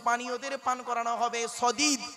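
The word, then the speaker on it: صديد: সদিদ, কি বললাম বাবা, বলুন, উচ্চারণটা করুন না। সদিদ, শুনে নিন, সিন দিয়ে সাদিদ, শিন দিয়ে সাদিদ, সদ দিয়ে সদিদ।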